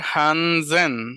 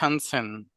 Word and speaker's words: Hansen: Hair হানজেন, nicht Hansen।